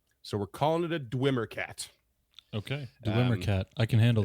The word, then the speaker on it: Dweomer: has an alternate spelling that would definitely be pronounced this way. I'm going with Dwemer. So we're calling it a Dweomercat.